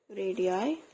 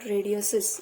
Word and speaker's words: radii: Okay, we have drawn two circles with two different radii. The plural form to pronounce radius is radii, not radiuses.